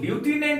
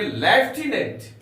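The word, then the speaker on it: lieutenant: एन ए एन टी हम लोग लूटने नहीं पढ़ेंगे हम लोग पढ़ेंगे लेफ्टिनेंट लेफ्टिनेंट इसका उच्चारण लेफ्टिनेंट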